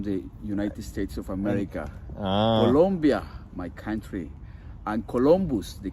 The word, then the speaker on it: Colombia: says uhen colia it's not colia sorry guys it's Colombia with o but is it in